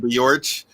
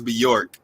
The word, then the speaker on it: Beyorch: And for those who didn't get that, like New York. Right. Some people pronounce it Beyorch, but it's Beyorch, but yeah.